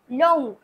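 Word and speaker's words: लौंग: আমরা কি বলব হসয় ল আকার অন্তস্থ চয় দীর্ঘি ইলাইজি জি লবঙ্গ লবঙ্গকে বলতে হবে হিন্দিতে লং লং এখানেও আমরা নাকে উচ্চারণ করছি অনুনাসিক উচ্চারণ করছি সেই জন্য কি হবে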